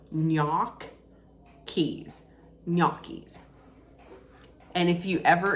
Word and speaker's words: gnocchi: people might pronounce it ganachis or gnocchi's that's not correct I was told to always pronounce it gnocchi's so knock keys gnocchi's and if you